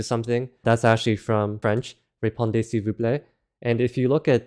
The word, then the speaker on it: répondez s'il vous plaît: The Z at the end of répondez is silent, the L is silent, the S is silent, and the T is silent.